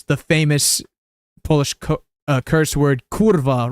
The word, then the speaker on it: kurwa: So it looks more like kurla, even though it's not pronounced kurla, it's kurwa.